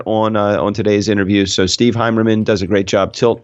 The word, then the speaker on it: Heimerman: I was going to say, I thought I was pronouncing it incorrectly the entire time. No, you got it. Steve Heimerman.